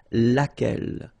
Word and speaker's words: laquelle: So basically same rule, Q-U, U is not pronounced here. And then you get this E-double-L-E, well, phonetically here, it is the same as what we have here. So, laquelle.